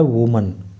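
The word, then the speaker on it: woman: बात हो रही है लेकिन जब हम इसको एकवचन में पढ़ते हैं तो इसकी स्पेलिंग होती है उस समय डब्लू ओ एम ए एन और इसका उच्चारण होता है वुमन लेकिन जब यह बहुवचन फॉर्म में लिखा होता है तो इसकी स्पेलिंग हो जाती है डब्लू ओ एम ई एन और इसका उच्चारण हो जाता है वमन ठीक है तो इस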